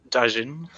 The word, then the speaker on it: Daijin: How do you pronounce his name, Charles? Daijin. Oh, it is Daijin.